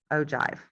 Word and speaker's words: ogive: I know it's spelled with a G, but it's pronounced ogive.